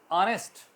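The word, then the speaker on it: honest: sound like silent ऑनेस्ट ऑनेस्ट में H silent है ओ एन ई एस टी की आवाज आ रही है क्यों क्योंकि अ ओ आ की आवाज करता है इसकी फनेटिक उसकी वल साउंड आ रही है नेस्ट नर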